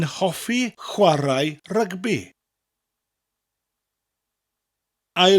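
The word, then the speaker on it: rygbi: rugby twin javi rugby rugby in English and Welsh are very similar but the worst version has a role in our or and you emphasize the syllable slightly more a rugby a rugby so saying I like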